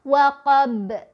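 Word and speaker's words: وقب: Tapi ketika kita berhenti maka ini menjadi qalqalah kubro atau qalqalah besar. Maka kita bacanya seperti ini yang betul. Waqab, waqab, waqab. Gitu ya. Mantul. Nah, bacaan yang salah misal waqab, tidak dipantulkan ya, jadi salah.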